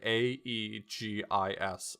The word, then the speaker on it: Aegis: always used yeah so it's like a long e sound for AE like Caesar whether or not that's